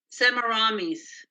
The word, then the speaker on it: Semiramis: or Parallels no no what's her name again pronounced semaramis yeah how we now have Babylon The Babylon is now connected to Abraham through semiramis because she's the daughter of the Builder and